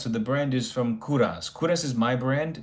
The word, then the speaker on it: Kovras: So, it's spelled Kovas, but it's pronounced Kuras like my last name.